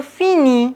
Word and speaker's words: finis: Je finis, on ne prononce pas le S.